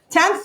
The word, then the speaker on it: tenth: Tenth with a TH on the end. So make certain you get that TH sound on the end. Everybody do that. Say that with the TH.